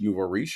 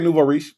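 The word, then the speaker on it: nouveau riche: Uh Black Bidder says Native Tribe Urban Media FYI is pronounced Nuvo. Nuvarish. Okay. All right. My bad. Damn. My bad. Sorry. Sorry. Novarish.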